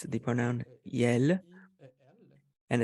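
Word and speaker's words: iel: which it's the pronoun yell and it's spelled i-e-l and it's a mix of ill and L and it's a it's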